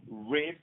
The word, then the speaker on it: Ribes: Jean-Michel Ribes. Let me spell it out for you.